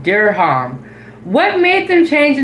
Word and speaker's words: dirham: This is how to pronounce the currency. Emirati deha. Okay. Emirati dirham.